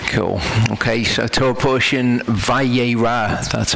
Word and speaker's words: Vayera: oh cool okay so tell portion vai a Roth that's how it's pronounced we're gonna continue to go through Genesis